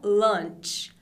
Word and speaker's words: lunch: essa dúvida sua também essa aqui com u se fala lant lant e quer dizer